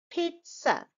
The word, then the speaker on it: pizza: pit and then again there is no z sound there is sound p